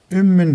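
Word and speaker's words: أم: Ümmün diye yazılır ama ümm okuyacağız.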